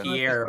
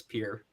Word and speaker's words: Pierre: It's like it's spelled Pierre, but it's Pierre.